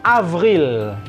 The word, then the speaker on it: avril: jadi ini mah bulan April itu adalah Avril Avril kalian suka dengan musik ngeri penyanyi Avril Lavigne Avril seperlunya Jangan lupa jangan Avril ya ini FF ini W